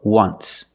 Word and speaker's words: once: But you say there's an O in once. That's a vowel. But phonetically, it's not a vowel. Phonetically, it makes the sound w, w, like a W. W, w, once. So phonetically, the T is between consonants. So it's silent. Link the sounds. Just w, just wa, just once. There's no T. Just once.